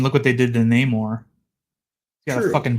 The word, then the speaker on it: Namor: try to call him Namor, they kind of messed up the pronunciation of his name to Namor. They put like an accent over the O part.